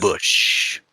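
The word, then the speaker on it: Busch: That's Bush. Bush. That's Bush is actually how kind you're of supposed good. to pronounce it.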